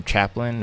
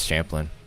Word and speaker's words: Champlain: have to watch here Lake Champlain or chaplain or wait is it chaplain or Champlain that's an interesting name if it's Champlain it is Champlain okay I I wanted